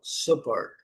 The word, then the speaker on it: support: E nesse caso aqui, como é um verbo apoiar support, support, support, ok? Sí forte é a segunda. Eu falei a primeira, a primeira com a sílaba forte sub, mas nesse caso é o verbo apoiar, então a segunda sílaba que é a forte, support.